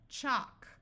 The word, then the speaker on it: chalk: If you have LK or LM, then the L will be silent.